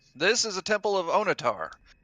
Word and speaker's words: Onatar: is a temple of onitar that name rhymes with guitar he must be the